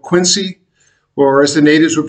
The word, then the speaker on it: Quincy: And so, as I was saying, I lived in metropolitan Boston area in the southern city called Quincy, or as the natives would pronounce it, Quincy.